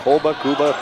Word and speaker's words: Kuba: I said, how do you pronounce it? I said, over here it's Kuba. He said, we go Kuba, 50-50, whatever you want to go with.